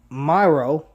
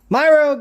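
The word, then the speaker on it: Miro: how you pronounce it just exactly how it's spelled um but anyway myro goes on to tell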